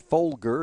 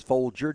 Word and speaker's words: Folger: and he said yeah just like the coffee just no s on the end of it uh it's not Folger it is Folger just like the coffee